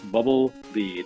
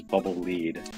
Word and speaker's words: Bubble Lead: lead or bubble Le it's bubble lead Le you play in Japanese it's it's uh written out phonetically in Katakana and it is bubble lead I guess because it